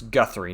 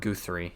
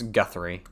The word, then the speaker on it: Guthrie: It's Guthrie, not Guthrie. It's Guthrie. That's how you pronounce it.